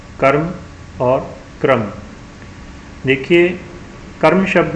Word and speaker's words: कर्म: म के ऊपर है, और उसकी जो उच्चारण है उसका वह म से पहले किया जाता है, और आधा उच्चारण इसका होता है, पूरा र नहीं बोला जाता, इसलिए इसको उच्चारण करेंगे कर्म।